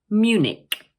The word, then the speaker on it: Munich: Also notice that the CH at the end of the word is pronounced like a K. So once again, we say Munich, Munich.